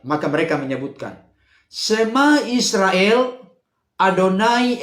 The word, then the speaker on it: Adonai: mereka menyebutkan semua Israel adonai eloheno Ado naik itu yang benar jadi bukan dalam konteks penulisannya Iya tapi dalam konteks pengucapannya karena kita harus tahu